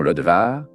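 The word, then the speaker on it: Lo Debar: Le nom Lodebar, ou sa prononciation Lodevar, a indiqué un endroit sans pâturage.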